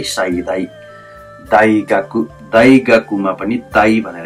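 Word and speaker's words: 大学: धेरै ठुलो भन्ने अर्थमा लाग्छ है साई दाई दाई गाकु दाई गाकुमा पनि दाई भनेर यहाँ उच्चारण भयो दाई गाकु दाई गाकु विश्वविद्यालय दाई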